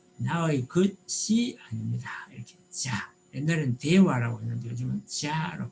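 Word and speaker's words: じゃ: 이렇게 자, 옛날에는 대화라고 했는데 요즘은 자로 바뀌었습니다. 그리고 요 야는 야유요 요음입니다. 그래서 지야라고 읽지 마시고 작은 야이기 때문에 붙여서 자 이렇게 발음하셔야 됩니다.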